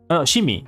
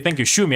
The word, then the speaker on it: 趣味: Shimi, right? Shimi, that's Shimi. あなたの一番好きな趣味は何ですか? 私の一番趣味はホビーですね。私の趣味は動画を作ります。で、動画を見ます。もうゲームをします。これから私の趣味です。一番の趣味はゲームと、言語も私の一番の趣味は言語です。私は言語を勉強します。言語を話しますもん。そうですかね。Yeah, I think that's my Japanese. So, 読み方が趣味。趣味の読み方は趣味。Shumi. Thank you. Shumi.